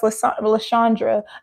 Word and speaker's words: Lashandra: It's pronounced Lashandra. And I feel like, I don't know why today I decided to make the H silent, because I feel like in the past I probably have said Lashandra because I've been in my right mind.